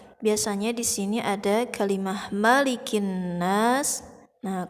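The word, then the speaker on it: مَلِكِ النَّاسِ: ada kalimah malikinnas nah kesalahannya itu suka dipanjangkan dari huruf mim nya malikinnas disini di mah tidak boleh dipanjangkan karena tidak ada Mad kedepannya ataupun tidak ada harkat patah berdiri Hai jadi ini patah saja ya malikinnas bunyinya harus nyambung harus langsung balikin jangan malikin nanas tidak boleh seperti itu ya di sini sampai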